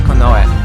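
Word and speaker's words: 近衛: You would think it would be pronounced Kinye, right? Just looking at the kanji, you think, oh, this is Kinye, right? But no, it's pronounced Konoe.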